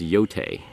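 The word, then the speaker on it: Yōtei: It's pronounced Yote.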